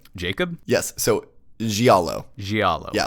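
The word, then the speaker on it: giallo: from schlocky B movies a Resident Evil or gualo blood soaked Screamfest like Clock Tower I think I still pronounced it wrong you did you asked for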